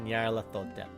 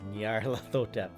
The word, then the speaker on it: Nyarlathotep: I like to pronounce that name as Nyarlathotep. Everyone's gonna say it differently. But honestly, go with whatever you feel works.